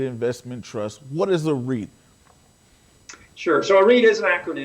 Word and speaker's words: REIT: And really, when you look back at the REIT, we call it REIT. It's actually a good word to rap with there, Prince, because REIT, beat, sweet, number of words that rhyme with that.